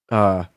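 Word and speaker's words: Apizza: Assisted by oil or coal-fueled ovens reaching temperatures topping 600 degrees, New Haven style pizza, pronounced Abits by locals. What? I don't even get that. Abits. Pronounced Abits.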